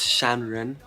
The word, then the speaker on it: Shanren: can be considered unan music the name is pronounced shanren and this is it means Mountain Man or